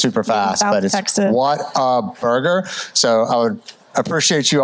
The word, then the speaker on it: Whataburger: what's what's a burger but it is what a burger three syllables four syllables yeah yeah it's a